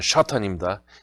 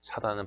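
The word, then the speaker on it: שטן: 우리의 보호자이신 하나님께서는 졸지도 주무시지도 않으시면서 우리의 출입을 지키시는 분이시지만은 우리의 대적 샤탄, 이 원어로는 샤탄입니다. 사단은 발음이 약해요. 이렇게 변질됐는데 원어로는 샤탄이죠.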